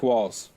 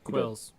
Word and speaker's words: Qualls: Qualls. Yeah. Did I say that before, or did I say his name wrong? Yes. Quills. I said Quills, didn't I?